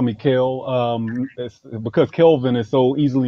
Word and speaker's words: Kel: here yeah yeah so people just call me Cale because Calvin is so easily mispronounced people are like Calvin or Kevin I'm